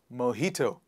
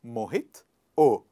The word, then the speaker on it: mojito: we pronounce it as mojito if you have a friend called mohit just add o in front of his name and it changes to mohit o mohito one more time